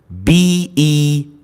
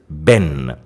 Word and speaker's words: been: But in America, the Americans and the Canadians, they pronounce it a bit shorter.